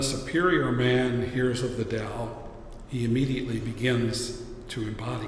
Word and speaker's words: Dao: and being to everything else is called the DAO today's scholars spell it Dao traditionally who's about ta o as